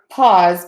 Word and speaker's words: pause: So pause, P-A-U-S-E, 3 sounds in the pronunciation, P, short O, ah, and then a Z.